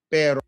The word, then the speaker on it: pero: Pero. All right. It's the pronunciation pero pero. Pero right perero. You just want to kind of work that per. Now that's with a quick tap per.